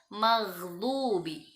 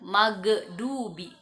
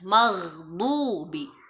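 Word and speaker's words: مغضوب: Bacanya maghdubi, jangan magdubi. Nah, ya, ada 2 kesalahan biasanya. Orang membacanya seperti huruf G, itu kurang tepat. Maka bacanya dari tenggorokan bagian atas, maghdubi, maghdubi alaihim.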